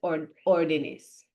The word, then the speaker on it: órdenes: When we make it plural, we want the stress to stay here.